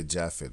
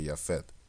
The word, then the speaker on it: Japhet: much like yafet because we don't say jaffet we say yafet right in the Dutch right and go we say you know the the gs Right.